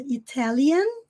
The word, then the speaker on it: Italian: bem breve na garganta Italian o n Sempre na ponta da língua American o r aqui